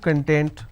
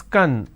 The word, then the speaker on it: content: means ingredient or index when I pronounce this as Kun that means happiness or being happiness or being self-satisfied so these are the aspects